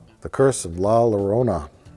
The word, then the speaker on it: La Llorona: just to correct you it's pronounced la Llorona oh yeah yeah my sharona that's unrelated but Oh Oh cuz it's a double el and Spanish double Elle's like like like poyo it was just was